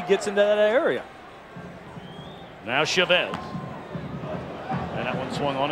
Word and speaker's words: Chavez: may be wondering know you've heard him called Chavez and we asked him about it and he said he doesn't really mind either way he said but his father has always uh pronounce the family name Chavez so you always want